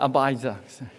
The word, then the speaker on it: Abijah: How to pronounce this king? Anybody know? Yeah, Abijah.